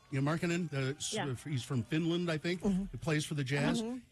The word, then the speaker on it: Markkanen: Yeah, Markkanen.